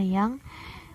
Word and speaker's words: jang: Ciri dari ejaan ini adalah penggunaan huruf J yang dibaca Y, contohnya jang yang dibaca yang, OE dibaca U, boelan